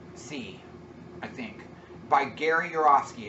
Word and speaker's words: Yourofsky: It's called The Best Speech You'll Ever See, I think, by Gary Yourofsky. It's spelled like your, Y-O-U-R-O-F-S-K-Y.